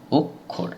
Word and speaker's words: অক্ষর: অনুসারে আমাদের কি দাঁড়াচ্ছে অক্ষর অর্থাৎ প্রথমে ক তার তারপরে খ অর্থাৎ শব্দের মাঝে যদি শব্দের মাঝে যদি ক এর মধ্যনশয় থাকে তাহলে উচ্চারণের তা ক এবং খ যোগে উচ্চারিত হয় ঠিক একইভাবে অক্ষুন্ন এখানেও